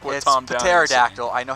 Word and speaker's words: pterodactyl: sticking with the pterodactyl P is silent I'm like with the pterodactyl I know how to